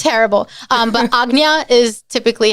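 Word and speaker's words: Ajna: them is very interesting it's terrible um but agnya is typically how it's pronounced agnya agna so a little variation on that but um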